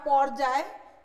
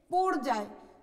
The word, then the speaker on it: পর্যায়: যেমন আমি একটা শব্দ লিখেছি এখানে, যেটাকে ভুলে উচ্চারণ করা হয় পর্যায়, কিন্তু এটার শুদ্ধ উচ্চারণ হচ্ছে পর্যায়।